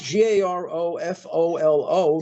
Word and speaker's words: Garofolo: Yes, it's Garofolo, not with an A at the end. Like you had. No. Oh, so boy. It's exactly as it's spelled.